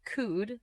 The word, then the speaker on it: could: could Pronounce it as could. The letter L is silent.